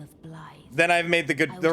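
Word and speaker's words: Blaidd: Which I know that name is spelled B-L-A-I-D-D, but apparently it is... I want to say Gaelic? It is the Gaelic pronunciation, and the name literally means wolf. So Blythe is Wolf the Half-Wolf.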